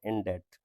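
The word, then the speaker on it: indebted: तो उसको क्या कहते इन डेट यह बी साइलेंट है इन टनेस इन टेटनेस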